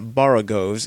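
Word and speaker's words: borogoves: rhyme with groves again the first Oh in a bar agos is pronounced like the O in bar oh I have heard people tried to give it the sound of the O in worry such is human perversity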